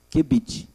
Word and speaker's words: qubit: Então é conhecido como Q de queijo, Qubit. E aí a gente pronuncia qubit, que é o bit quântico.